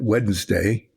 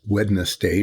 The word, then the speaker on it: Wednesday: It used to be that Wednesday, it's Wednesday, not Wednesday.